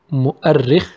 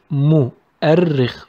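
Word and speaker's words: مؤرخ: In the middle, we have mu'arrikh, mu'arrikh. We have a, and also notice shadda on ri. We didn't say ri, we said ri. We stress on it. So we pronounce it mu'arrikh, mu'arrikh.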